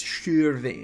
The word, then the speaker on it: Shirvan: If you're thinking that it's pronounced Shirvan, no, it's not. It's Shirvan. You gotta say it with the accent.